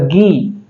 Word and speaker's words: ghee: मात्रा ग के ऊपर गी जी एच डबल ई को क्या पढ़ा जाएगा गी और हम पढ़ते हैं इसको क्या घी पढ़ा जाता है जी एच का जो